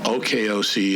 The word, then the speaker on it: OAKOC: OKOC is the pronunciation of the acronym OAKOC.